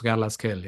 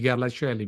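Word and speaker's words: Garlaschelli: English pron would be garasi but g r l a s c h e l l i so c h e in it ke instead of she as you pronounce in English so it's gasell not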